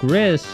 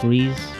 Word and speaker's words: Gris: But then, so Gris, I keep pronouncing it Gris, I think it's Grease.